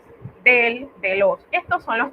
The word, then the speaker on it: des: Y de los se dice de con sonido abierto. Esa S no se pronuncia a menos que encontramos un caso de liaison, ¿verdad?